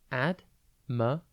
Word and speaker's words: admirable: It's pronounced admirable, and it is spelt A-D-M-I-R-A-B-L-E. Think admire without the E, and then able.